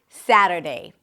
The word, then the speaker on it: Saturday: Saturday. Primary stress is on the first syllable.